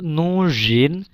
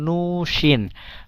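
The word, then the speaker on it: нужен: তমু নুজিন এখানে দেখেন নুজিন এখানে কিন্তু যে এই এটার উচ্চারণ কিন্তু যেই হচ্ছে নুজিন এখানে কিন্তু উচ্চারণটা এমন হচ্ছে না নুসিন নুশিন হচ্ছে না এখানে নুজিনই হচ্ছে তম নুজিন অস্ত্রী নুস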